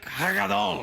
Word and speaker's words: Hagadol: Sorry, let me say it properly. It's Hagad Doll.